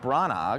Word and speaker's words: Branagh: The picture is actually directed by, Kenneth Branagh. That's a great picture. A lot of, Academy Award winning Kenneth Branagh, Hamlet, I don't think you pronounced the G in his name, Shakespearean.